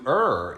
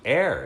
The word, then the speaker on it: err: right yeah er like - - er - err is human not to air as human you could say to err err